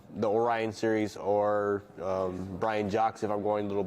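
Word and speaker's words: Brian Jacques: by Brian Jax uh who I pronounced Brian jqu at the bookstore and they tell me who who is that like don't like you pronounce him he's French he's not J jqu I was like oh God so embarrass Brian jock but yeah Ben B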